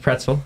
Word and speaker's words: Praetzel: This uh and so it's it is pronounced pretzel.